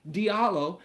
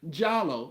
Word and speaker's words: Diallo: was his last name I pronounce my name Diallo he pronounced his name giallo like with the J now this dude had